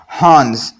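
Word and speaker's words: horns: में कहते हैं हंस हंस यहां पर दोस्तों आर साइलेंट है हंस ऊंट ऊंट को हम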